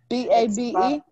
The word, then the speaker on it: Babe: Is it? How do you pronounce? B-A-B-E? It's Babe. Babe. Okay. Babe.